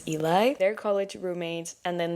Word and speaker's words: Eli: our other character, Eli, or I keep calling him Ellie in my mind, but I'm pretty sure the right way to pronounce his name is Eli.